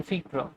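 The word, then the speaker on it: Virchow: Cause ইনি German বিজ্ঞানী, ওনার নামের উচ্চারণ এক এক বইয়ে এক এক রকম দেওয়া আছে, কেউ ভার্চু দিয়ে বলেছেন, কেউ উচ্চারণটা বলেছেন ফিক্র। ঠিক আছে, আমি দুটোই লিখবো, ঠিক আছে, দুটোই জেনে রাখ।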